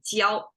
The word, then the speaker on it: 蕉: It pronounced as jiao, and it's literally means burned plant, and together that is banana.